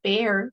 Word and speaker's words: bear: Después pasa algo similar con bear, que ese sí es oso, ¿verdad? Entonces, ese es con e.